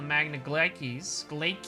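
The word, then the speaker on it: Magna Glacies: They have not forgotten your deeds on the Magna Glaikes, that's how it's pronounced, I remember now.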